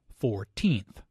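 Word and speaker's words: fourteenth: The stress is on the second syllable, 14th.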